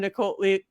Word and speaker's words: Niccoli: Niccoli. It doesn't say like cannoli, but I know that's how it's pronounced.